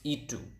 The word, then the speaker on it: itu: It is itu.